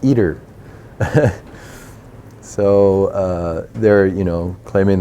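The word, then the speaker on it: ITER: with Russia and China joint projects so it's pronounced eater so they're you know claiming that they'll have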